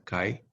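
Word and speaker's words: χ: simplemente cae aquí dice el libro que se pronuncia cae este como si dijéramos skype que es una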